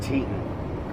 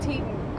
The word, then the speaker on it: Teton: how to say Teton it sounds weird but we calling it grand teeton grand tetan I like taton better but yeah we asked the lady when we got to Grand Teton how to pronounce it and she said it was actually French so yeah I think